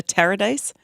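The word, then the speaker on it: Taradise: Tara wouldn't you say welcome to Tara days because it rhymes with paradise right I put in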